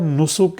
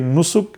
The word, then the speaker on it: Nusuk: رہا ہے، تو اس ایپ کا نام ہے نسک ایپ، NUSUK۔ یہ اسپیلنگ آپ لوگ ذرا نوٹ کر لیں، NUSUK، نسک ایپ۔ پلے اسٹور سے آپ لوگوں نے اس